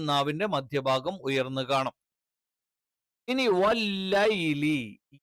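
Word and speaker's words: والليل: ഇനി വല്ലൈലി യ നാവിന്റെ മധ്യവും മേലെ അണ്ണാക്കിൽ ടച്ച് ചെയ്യുന്ന സമയത്താണ് വല്ലൈലി വല്ലൈലി വല്ലൈലി എന്ന ഓതാറുണ്ട്. ലേ എന്നുള്ള ഉച്ചാരണം എന്ത് ചെയ്യുന്നില്ല അറബിയിലില്ല.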